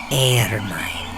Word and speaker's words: Aermine: Ermine.